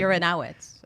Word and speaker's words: Uranowitz: And my Uranowitz is Yeah. how you pronounce it.